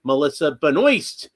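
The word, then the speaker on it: Melissa Benoist: I got the Melissa Benoy Supergirl figure. That's how she pronounces it.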